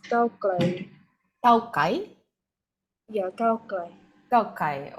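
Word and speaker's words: ก้าวไกล: How do you pronounce In it? Thai, it's Cao Klai.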